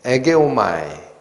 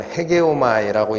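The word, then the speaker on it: ἡγέομαι: 이 단어랑 또 에게오마이 또는 헤게오마이라고 읽히는 이 단어, 이거는 이끌어내다, 인도하다라는 뜻의 단어입니다.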